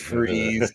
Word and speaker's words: Fries: And it's Fries. Yeah, I know, but it's still pronounced Freeze.